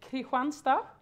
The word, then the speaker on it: Kristianstad: going into my town, which is Kristianstad, how we pronounce it.